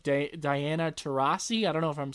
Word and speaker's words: Taurasi: It's Anthony Davis, Klay Thompson, Damian Lillard, Chris Paul, and even a lot of the members of the WNBA, like Diana Taurasi.